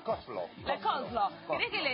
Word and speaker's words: coleslaw: Se escribe coleslaw. Pero es la coslo.